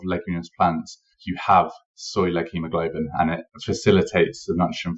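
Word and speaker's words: leghemoglobin: interested in reading a little bit about the leg hemoglobin that um impossible burgers are using if I pronounce that correctly yeah yeah that is correct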